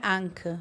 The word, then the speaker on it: Anke: Ela fala de um jeito muito mais alemão. Como que é a pronúncia? Não, Anki. Ela não tem o G. Dá uma segurada. O G né? some, né? Mas em alemão é Anke, mas é muito feio, né?